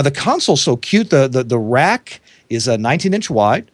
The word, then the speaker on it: RAQ: There's a companion console to the Rack. Again, that's spelled RAQ.